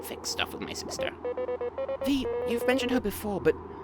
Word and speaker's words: Vi: So that's something to keep in mind, and also, it's because of Joan that I was convinced to pronounce V's name as V and not Vi, because I feel like that is something that is debated somewhat within the community.